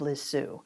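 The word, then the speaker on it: Lisieux: The correct way of pronouncing our next saint is St. TZ of Liz Sue.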